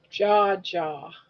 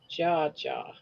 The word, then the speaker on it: Jaja: Like how to pronounce it, Jaja. Yeah. Jaw jaw. That's how you pronounce it. Jaw jaw.